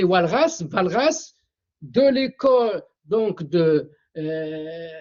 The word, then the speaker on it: Walras: golf mer ou bien mer mais ça se prononce menner Carl MERER de l'école autrichienne Lyon Valras avec W Walras Valras de l'école donc de euh Lausanne Suisse et